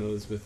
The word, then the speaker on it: Elizabeth: Why do I have to join Elizabeth on the boat? It's pronounced bow.